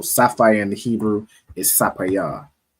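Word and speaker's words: ספיר: And how would you say sapphire in Hebrew? Sapayar. Sapayar, Most High Christ. So sapphire in the Hebrew is sapayar, right?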